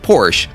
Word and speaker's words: Porsche: was named ferdinand porsche whose last name is pronounced porsche born in northern bohemia in 1875 which today